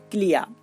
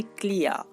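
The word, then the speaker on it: clear: এর সঠিক উচ্চারণ হচ্ছে ক্লিয়ার। আমরা যদি শব্দের শেষে এ আর বা ই আর পাই, তাহলে আর এর জন্য যে রটা ব্যবহার করি সেই রটা আমাদেরকে হালকা উচ্চারণ করতে হবে।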